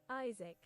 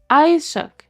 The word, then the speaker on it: Isaac: Like I'm putting like hang on how how to pronounce Isaac. Is wait what? Isaac. Isuk.